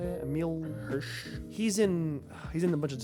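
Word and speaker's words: Emile Hirsch: Emil Hirsch.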